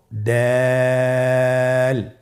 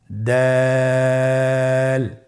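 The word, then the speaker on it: دال: এই হরফটি উচ্চারণ করার সময় আমরা অবশ্যই 3 আলিফ টেনে পড়ব। দাল, আমার সাথে আবার বলুন, দাল।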